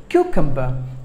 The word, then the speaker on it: cucumber: cucumber cue come but just 3 syllables but the stress falls on the first syllable cucumber cucum but cucumber killed